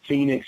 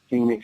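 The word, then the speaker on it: Fenix: There is one person who stands out, and that's, you know, Phoenix Ammo. You guys familiar with Phoenix? Oh, no. And it's spelled F-E-N-I-X Ammo.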